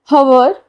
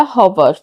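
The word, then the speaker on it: hover: हमारा next word है हवर या हवर। दोनों तरह से प्रोनाउंस कर सकते हैं। हवर या हवर। हम यहां पे हवर यूज़ करेंगे। मतलब प्रोनाउंस करेंगे।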